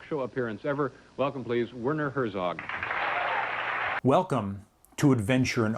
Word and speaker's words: Werner: a little research because some people pronounce wner and some people uh say verer I actually think that's the correct uh German pronunciation but I could be wrong and probably only verer